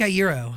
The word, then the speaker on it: Iero: you're a legend man oh thank you Frank a euro all right thank you so much I've heard your last name be pronounced a couple different you got it right